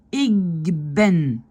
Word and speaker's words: ik ben: Ik ben, le K devient G.